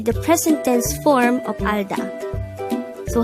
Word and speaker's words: 알다: The word Alda could be divided into two syllables. Alda. Al is formed from the combination of the sounds of a, real, and a no-sound ian at the first position of the syllable, while da is formed from the combination of the sounds of dikat and a.